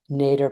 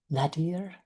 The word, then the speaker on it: nadir: It's actually the nater point. I know I'm pronouncing that word wrong.